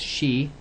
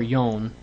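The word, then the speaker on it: 四: that is because um four sounds like the word death um one of the pronunciations for it she she because the word for for is she or or yon yes but then the word for death is shin yes so that can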